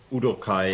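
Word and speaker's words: Uduokhai: which I think is udai is that right udai yeah udai thank you he is a German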